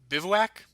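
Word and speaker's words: bivouac: B I V O U A C. Oh, Bivwac.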